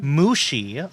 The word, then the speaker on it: Muxi: Oh, pronounced Mushi. Okay.